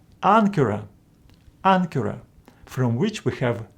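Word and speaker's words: ἄγκυρα: these letters follow gamma this first gamma is pronounced as n for example in this world Ankara Ankara from which we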